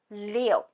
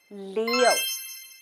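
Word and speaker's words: 六: Leo six six is Leo it's pronounced like the zodiacs Leo Leo repeat after me Leo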